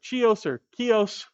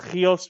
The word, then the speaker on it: Chios: mytho-historical figure, he was born on Chios or Chios, however you want to pronounce that. In Greek, it's Chios, but that ends that makes you very awkward in conversation.